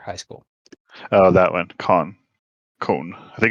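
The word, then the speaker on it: K-On!: Cone. I think it's Cone. Cone is how you Okay. pronounce it. Everyone calls it K-On and here in America.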